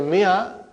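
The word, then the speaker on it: مائة: In the mi'a, alif is not pronounced.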